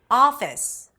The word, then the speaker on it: office: Non-native speakers usually associate the vowel letter with a pure vowel sound. Therefore, pronouncing this o as o. Office, job problem. Whereas, it's actually a back open a sound.